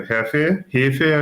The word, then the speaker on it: Hefe: And it's a Hefe, I should say, the proper pronunciation.